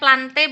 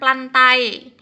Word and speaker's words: Plantae: yang ke empat itu ada plante bacanya plante bukan plantae ya lantai ini nama Indonesianya